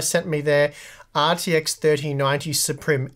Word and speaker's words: Suprim: So many months ago now, MSI sent me their RTX 3090 Suprim X. I'm going to say Suprim. I think it's meant to be Supreme, but it's spelt Suprim.